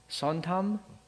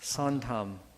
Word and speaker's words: 선함: Sontam? Did I say it right? Yes. Sontam.